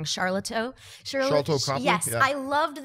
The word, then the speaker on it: Sharlto: the difference in, and I always say his name wrong, Sharlto Copley?